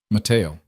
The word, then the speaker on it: Mateo: This man, she said, Mateo. She pronounced it in the Spanish way. soft tea like she'd been saying it for years.